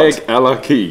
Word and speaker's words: Craigellachie: Ella and they have a key you know like a key for turning in the door so Craig Ella key say all together what have you got Craig Ella key Craig Ella there that is how you say um and on that